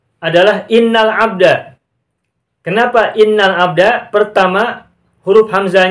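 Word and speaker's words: إن الحمد: teks silakan lihat ke layar lagi itu cara bacanya adalah innalhamda Kenapa innalhamda pertama huruf hamzah nya ada di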